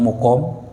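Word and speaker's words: مُقام: masjid karena sakit ya jadi bacanya mukam kalau makam itu tempat mukam itu apa tinggal berdiam ya itu ada perbedaan itu ya ya suuku itu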